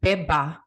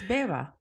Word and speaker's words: Beva: say it Baba Baba I don't want to go Beba it's Beva it's Beva yeah right this sounds like a v it is right okay let's let's